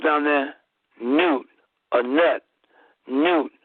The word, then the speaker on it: Nut: Newt. It's pronounced Newt, but it's spelled N-U-T.